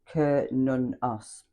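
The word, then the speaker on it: Cernunnos: So it's pronounced K nunos also as her the Celtic stag god.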